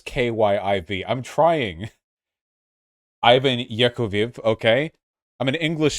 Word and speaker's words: Kyiv: is a russian word our capital is called kiev this is important i'm trying i know it's kyiv i'm trying i'm an english speaker you they're